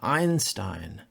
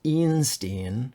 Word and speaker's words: Einstein: e as in spiel when you see the vowels e i you should pronounce i and a good way to remember this is with the name Einstein it's not pronounced ianstein right okay and then